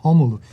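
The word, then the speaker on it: Rômulo: Homulu. The Homulu? R in Homulu? Portuguese sounds like your H, English H.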